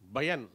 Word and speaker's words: பயன்: இந்த பலாம் உச்சரிக்கிறது சரியாக சொல்லணும். ரொம்ப பயமாக இருக்குன்னா வேற பயம் என்பதற்கு பா வரும், அச்சமாக இருக்கிறது அது பயம், அச்சமாக இருப்பது பயம். பயன் என்கொள், பயன் என்ன இருக்கிறது அப்படித்தான் வரணும்.